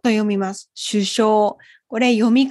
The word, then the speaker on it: 首相: では次です首相を読みます首相これ読み方を覚えるのが難しい